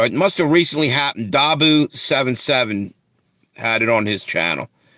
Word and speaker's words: Dahboo77: Dabu77 had it on his channel. It's spelled DAHBOO77.